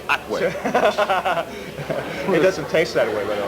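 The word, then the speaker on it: Hatuey: Everyone says Hatui, but it's Atwe.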